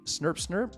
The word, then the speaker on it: SCPCRNP: there this has been scp-crm p snurpsner is how you say that uh in case you're curious uh aka lack of lepers